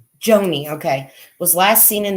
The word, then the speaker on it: Joanie: okay because it says Joanne how do you pronounce her name Joni okay was last seen in the vicinity north